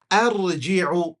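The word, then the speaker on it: أَرْجِعُ: okay, arji', like this, you have to pronounce this, you see, with a fatha. Let me just give it a space. There you go. What do you say? Arji'u, arji'u.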